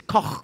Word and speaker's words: Koch: It's Koch. Koch. Koch. How does make it better? Koch. See the Koch. How do you spell that? K-O Slen. And Koch. No, it's German.